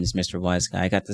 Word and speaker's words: Mr. WhyzGuy: how to pronounce my name properly so yes Mr wise guy that's how it's pronounced thank you very much I caught him